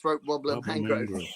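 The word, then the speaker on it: Raymond Luxury-Yacht: It's spelled Raymond Luxury Yacht but pronounced throat wobbler mangrove.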